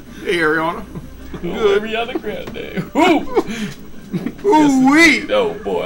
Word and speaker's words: Grande: Oh, Ariana Grande. Woo! Ooh wee! No, boy, I've listened to that music all the way home. It's pronounced Grandi. Grandi, Grande, Grande, oh.